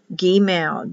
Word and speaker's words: gimel: G for gimel, hard G, gimel, gimel. Two M's or one, either one's correct.